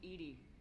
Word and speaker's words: EDI: airlock is a jar why are you named Edie 80 is the phonetic pronunciation of EDI that is an acronym for